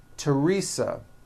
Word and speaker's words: Teresa: spelled with a th they are pronounced as if they were spelled with a normal t t like that and these words are thomas thompson teresa thailand thames like the